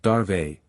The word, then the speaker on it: Dave: worked most closely with Hari Dave pronounced darve the org sales manager